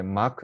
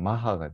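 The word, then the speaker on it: Mach: 마크 넘버라고 이야기를 하는데요 원래 이제 원래 발음대로 읽으면 마하가 됩니다 마치 m 대신에 b가 있으면 바하라는 음악가에 대해서 이야기를 하죠 바크라고 하지는 않잖아요 그런 것처럼 마하라고 있는게 더 맞는 것 같습니다 마크라고 있는 사람들도 있어요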